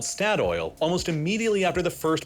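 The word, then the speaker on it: Statoil: the Norwegians took with the country's High that's pronounced St oil by the way yeah but yeah they're going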